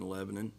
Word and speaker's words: Lebanon: against a really good opponent in Lebanon. They are – did I pronounce that right? You did. You did this time.